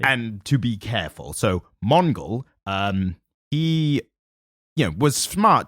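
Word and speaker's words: Mongul: might say something so his name is Mongol it's m-o-n-g-u-l yeah no it can only be pronounced that way unfortunately and to be careful so Mongol um he yeah was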